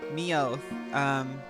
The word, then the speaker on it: Meowth: Yes, Meowth. Rhymes with growth.